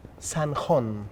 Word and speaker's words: Zanjón: How do you pronounce the name San Hon, right?